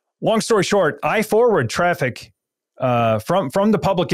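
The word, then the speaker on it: Traefik: automate your own certificates uh but I use traffic uh which is spelled a little bit odd T R A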